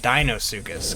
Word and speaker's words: Deinosuchus: a dino circus now i'm actually fully 100 aware that it's it's supposed to be pronounced dinosukis not dino sukis like i have always been calling them however you get into